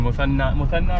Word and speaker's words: Muthanna: So guys, we've been picked up by my good friend Muthanna, right? Yes, that's how you pronounce it? Yes. Muthanna here.